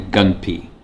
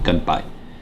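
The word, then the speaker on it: gunbai: The types of fans was the gunsen, tensen, and the gunpi. If I pronounce that right. Let me check my notes here, make sure, yeah, or the gunpai. Excuse me, gunpai. So a gunsen, basically, it's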